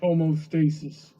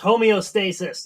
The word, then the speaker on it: homeostasis: We call it gay, Heather, because you're trying to reach homostasis. Sure, Bronny. Sure. Interesting. It's pronounced homeostasis.